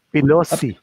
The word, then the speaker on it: Pelosi: Kalimutan ko It rhymes with Pepsi. Sabihin mo na. It rhymes with Pepsi. Parang si Paloma, Pepsi Paloma. Kalimutan ko Pelosi.